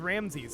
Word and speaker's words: Rameses: Okay, next would be Rameses. Beautiful. I would pronounce that as Ramses if there wasn't the apostrophes there, but that's fine.